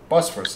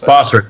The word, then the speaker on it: Bosphorus: That's how you pronounce it, eh? Bosphorus. Bosphorus, yeah. Bosphorus.